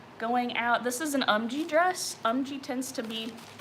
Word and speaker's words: UMGEE: But it's called UMG. Let's see if I can, well, UMGEE is how it's spelled.